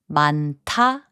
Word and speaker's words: 많다: 많다, which means many, is pronounced as 많다.